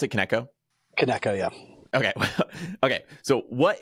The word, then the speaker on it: Kineko: what is kco or is that how you pronounce it kco keko yeah okay okay so what is keko yeah